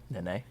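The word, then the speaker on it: Nenê: Nene. And it's, I don't know. Literally two I know. Wait, what? duplicated syllables.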